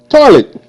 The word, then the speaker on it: toilet: fast as you can toilet t o toy e lit lit toilet toilet okay now you notice the E the E is making the I sound the short I sound I I I sometimes